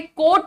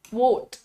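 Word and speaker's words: quote: और चले जाओ क्योंकि ये कोर्ट नहीं होता है this is नॉट कोर्ट this is pronounced as क्वट हाउ डू you pronounce this this is pronounced as क्वट क्व क्वा का साउंड है उसपे ओ की मात्रा है एंड दैट्ची चर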